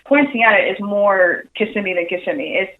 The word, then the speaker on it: Kissimmee: or I guess yeah Kissimmee always pronounced it wrong I'm from Miami so I'm familiar with the area but but you know Kissimmee yes is the way to say it and is that where